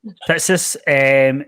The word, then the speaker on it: Fitzness: How do you pronounce it? Fitzness? Fitzness. Fitzness.